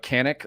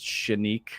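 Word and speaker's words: Canik: uh Canic or I think it's pronounced Shenik or Shenik, something like that because they're Turkish.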